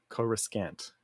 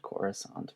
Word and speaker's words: Coruscant: Coruscant is the actual pronunciation of this word in English. But when it was given through to the prequel era, George was convinced into using the name because that's what they'd set up. And they changed the pronunciation because it had only been written until then.